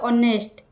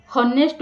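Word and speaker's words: honest: आम इंग्लिश रे कहिता ऑनेस्ट हनेस्ट बोली कहबेनी ऑनेस्ट एटी एच साइलेंट अच्छी ओके आई एम ऑनेस्ट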